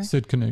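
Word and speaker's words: Tsidkenu: learn throughout scripture is that he is Jehovah Tenitzkenu. Is that how you pronounce it? He's our banner. Sidkenu, yeah. Sidkenu, he's our banner.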